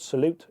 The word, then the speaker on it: SA1UTE: So we set up a charity called Salute, which is spelled SA1UTE. It's the postcode of Swansea, SA1, as a veterans charity.